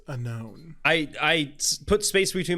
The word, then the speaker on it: Unown: I say it differently you sound like you're saying Unown like with a space in there it's unknown I I put space